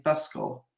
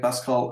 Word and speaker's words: Pascal: in C and in Pascal. That's so I don't interesting. know. I'm calling it Pascal as the Americans do, but obviously he was a French guy, so it should be pronounced Pascal.